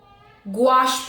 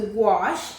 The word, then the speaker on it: gouache: Gouache paint.